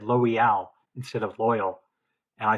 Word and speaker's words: Loial: Well, I mean, Loyal is how it is phonetically if you take their placement of the apostrophe, isn't it?